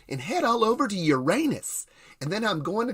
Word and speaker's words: Uranus: Did he say Uranus he's going to? That's the proper pronunciation.